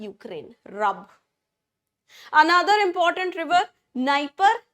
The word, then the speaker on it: Dnieper: Another important river, Dnieper, Dniester. D है नाम में but D is silent. So we have Dnieper, we have Dniester.